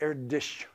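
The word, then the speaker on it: Erdős: by the way uh the pronunciation that the double slashes on the O is a Hungarian double slash and I'm you're trying to say it erdish and if there are hungarians here you probably cringing with my pronunciation but that's not a that's not like a German umlaut so don't type it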